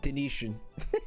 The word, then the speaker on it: Denetian: Fuzzy Guy Person says Denetian should be pronounced like Venetian. Denetian.